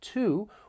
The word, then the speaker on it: to: phrase and I want to focus on the word to which has two different pronunciations when stressed it sounds like to when unstressed it may